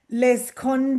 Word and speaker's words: Le Seconde: It's called Yes, Les Conde.